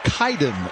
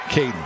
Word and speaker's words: Kaden: the tackle you saw two guys named Kaden k a i d n but they're pronounced differently Kaden wallworth is actually Kaiden wallworth and Kaden Riner is in fact pronounced kayen that's probably just for